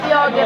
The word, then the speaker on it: Quiogue: Ano po tamang pagkabigkas sa apelido niyo? Yoge po.